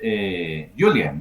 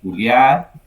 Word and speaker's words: Julian: In English, usually in English, it pronounced Julian, no? Uh-huh. In Yes, Spanish, yes. Uh, okay, in yeah. Spanish it's Julian.